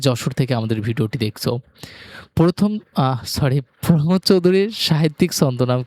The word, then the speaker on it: প্রমথ চৌধুরী: এটা প্রমোদ চৌধুরী, কিন্তু জীবনে সবাই এটাকে একবার প্রথম চৌধুরী পড়ে।